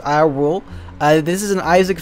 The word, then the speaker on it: I.RULE: probably maybe um and welcome to i dot rule i guess just pronounced i rule uh this is an